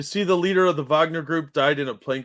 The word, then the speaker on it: Wagner: the Wagner group is Wagner group guys it's Wagner but they're weird so they could pronounce it Wagner um that they had